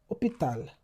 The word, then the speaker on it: hôpital: hôpital The H is never pronounced.